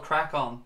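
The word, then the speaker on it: Craic On: It is called Crack On. That's the name of the new pod though. It's spelled C-R-A-I-C-O-N. So Crack On being obviously, you know, crack on, good laugh.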